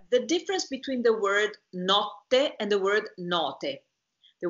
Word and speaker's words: notte: And here you have the difference when you sing between the word notte and the word note. Because if you pronounce properly the T, you will say notte. And this is double.